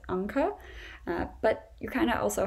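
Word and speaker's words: Anke: to a nuke um this may not work as well in the states because when there's an e at the end an american may say inc and if they've never heard the name so that's not really as pretty as anka but you kind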